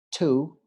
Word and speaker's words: to: So, such, en este caso la U va a sonar como A, such, to, la doble O suena como U, to, enough.